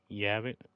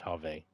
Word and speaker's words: Have: Yavik. Have Yavik. I always say it wrong. It's Have.